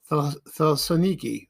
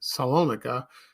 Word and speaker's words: Thessaloniki: Her paternal grandparents were Greek, and they were from Thessaloniki, Salonika. That's how you say it.